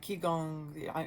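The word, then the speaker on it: Qigong: So, Chiong, the way you look it up, it's spelled Qi, and you can pronounce it different ways, but I'm going to pronounce it Chiong for this moment. It could be like Chong.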